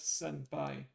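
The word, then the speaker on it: 先輩: I believe it's not even taught in the first two levels but if you for the sake of curiosity this reads as senpai.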